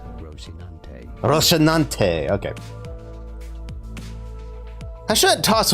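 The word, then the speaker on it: Rocinante: skinny and clumsy horse in Spanish you can say it as rosinante rosinante okay has shouldn't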